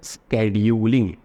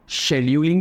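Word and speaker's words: scheduling: गया, इसको बोलते हैं स्केड्यूलिंग। क्या बोलते हैं दोस्तों, स्केड्यूलिंग, ठीक है। आप शेड्यूलिंग भी बोल सकते हो, स्केड्यूलिंग भी बोल सकते हो, based on your flexible pronunciation, ठीक है।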